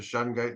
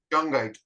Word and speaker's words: shungite: As soon as I put the shungite in the back of the phone, it goes to normal. So it doesn't. What is that stone you call it? Shungite.